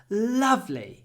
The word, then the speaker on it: lovely: has a lovely Garden when I use this word I always try to stretch the L lovely it's it's lovely let's